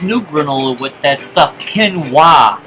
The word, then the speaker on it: quinoa: granola with that stuff ken wah is how you pronounce I always thought it was - no but it's quinoa it's another superfood and